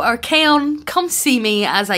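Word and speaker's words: Archaon: guys don't clock me i knew i was saying it wrong but it's archaion okay so our kaon come see me as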